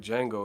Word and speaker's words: Django: beat Sealy Bros the color purple dome Wow bro triple G got his ass whupped like Django and shit the D Django the D is silent looking at bro there